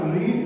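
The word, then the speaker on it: read: ठीक है, जो वर्ब रीड की सेकंड फॉर्म है वो है रेड, सेम ही है लेकिन उसके जो प्रोनाउंसिएशन है वो डिफरेंट है।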